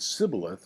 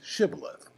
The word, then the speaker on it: shibboleth: you're not politically correct because you said sibyllith and you should have said shibboleth and and so we